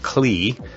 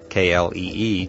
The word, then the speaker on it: Klee: And by the way, if you were a geeky engineering student like me, you may be pronouncing his name Klee, K-L-E-E, just as it's spelled.